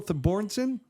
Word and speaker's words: Thorbjornsen: He knows the pronunciations of these names. Say it one more time. Michael Thorbjornsson.